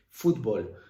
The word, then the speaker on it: fútbol: Fútbol, lo mismo. ¿Qué pasa? Que el golpe de voz es fútbol. El golpe de voz es en foot, no es en bol, sino sería fútbol, no sería fútbol, ¿vale?